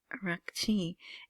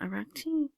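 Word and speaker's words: Araghchi: Of course there's a little heavier Middle Eastern part to it. Abas arachi.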